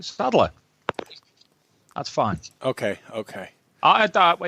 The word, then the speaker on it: Sadler: Do I always say that wrong, Sadler? How do you say it? No, that's right, Sadler.